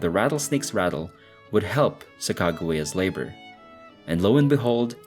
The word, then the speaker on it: Sacagawea: Now, it should be mentioned that her name is also pronounced Sacagawea or Sacagawea, depending on the source, but for the purposes of this video, we will pronounce it as Sacagawea.